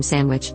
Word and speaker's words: Sandwich: In the place name Sandwich, in the county of Kent, UK, it is generally pronounced in full, i.e. sandwich. However, in very rapid or lazy speech, it's pronounced like sandwich.